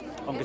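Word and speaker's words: Ongky: My name is Ongki. I'm the head of the housing department, as well as the head of the unit who implemented this program. Could you spell it? I'm sorry. Ongki, my name is.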